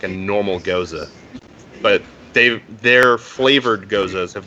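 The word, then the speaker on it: Gose: So for people who don't know what a Goza is, first it's pronounced Goza, and second it's an interesting beer style.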